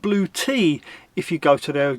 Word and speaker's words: Bluetti: It's pronounced Blue Tea if you go to their YouTube channel. Sounds weird, but hey, well, there you go. It's not Bluetti, it's Blue Tea.